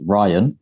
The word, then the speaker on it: Rayyan: Pakistani half English so it can be pronounced Ryan but it's actually spelled r-a-y-y-a-n Double Y right so